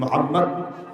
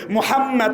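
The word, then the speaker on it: মুহাম্মদ: number লাইনে তিনি বলেছেন মোহাম্মদ শব্দটা উচ্চারণ করতে দুই ঠোটের মিলন হয়ে যায় আর মোহাম্মদ শব্দটা উচ্চারণ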